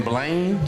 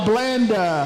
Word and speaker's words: Blanda: Jordan Blaine? George Blanda.